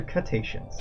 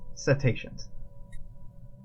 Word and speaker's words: cetaceans: the dolphin's mission complete is it cetaceans or cut Asians special projects temptations oh really it's not cut Asians I guess that makes sense cetaceans oh TI l i've been pronouncing that word no I think I've